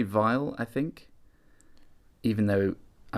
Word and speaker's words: Weil: And is it Vile or Veal or... I would say Vile, I think. Even though, I mean... If it's German, it's definitely Vile.